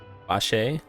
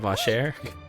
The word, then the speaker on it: Vash: some investiga yesterday regarding the name Vash Vash not vasher I already forgot how